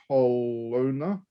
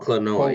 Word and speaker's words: Klonoa: On July 8, you've got Kelowna. Is that how you pronounce it? Kelowna. Platformer. Oh, Klonoa, yeah.